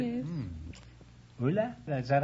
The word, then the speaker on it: Ulla: Ulla? Is that how you pronounce it? Ulla.